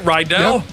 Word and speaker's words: Rydell: Rydell, Randy, is that how you say it? Rydell? Yep.